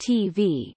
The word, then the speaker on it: TBh: Likewise, the Gaelic acronym for television, GD, Telebishan, is TBH, pronounced TV, as in English.